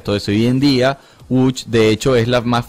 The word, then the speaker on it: Łódź: Bueno, porque el Łódź, que es como se pronunciaría en polaco, la ciudad de Łódź, es una ciudad de la era postindustrial.